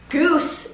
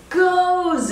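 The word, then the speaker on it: Gose: of the beer style goose is what I originally called it and in German is pronounced much the same way as Rosa with the emphasis on the O and the e making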